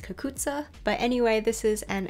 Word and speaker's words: cucuzza: Well, actually, I've been calling it a cucuzzi gourd, but I think it's technically pronounced cucuzza.